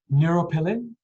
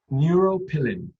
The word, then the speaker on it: neuropilin: repeat uh the name of this protein neuroplane neuropilin neuropilin i can spell it for you as well n-e-u-r-o-p-i-l-i-n now i